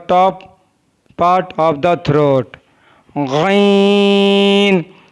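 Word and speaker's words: غین: Ghain is pronounced from the top part of the throat.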